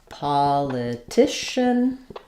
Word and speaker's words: politician: We have stress on the t syllable. Stressed i sound. That letters, those letters c i say the sh sound here.